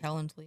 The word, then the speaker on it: Calendly: Calendly.